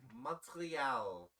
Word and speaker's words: Montreal: torial it's and yes I am pronouncing it like that folks um we are Canadian and the city I'm referring to is Montreal and he's not French